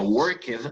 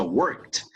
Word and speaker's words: worked: Por ejemplo, el pasado de work no se pronuncia worked, aunque así se escribe, sino se pronuncia worked.